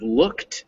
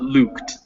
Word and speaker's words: looked: right there oh yeah so it's looked not luked yes so it's these are these short vowels you always struggle with